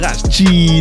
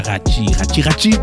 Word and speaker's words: Racci: C'est pas grave, premier épisode, je suis avec Rachi Nelson. Yeah, Rachi Nelson. C'est ça, il m'a dit qu'on prononce ça comme ça, Rachi. Rachi, comme Gucci, c'est R-A-C-C-I, comme Gucci, c'est J.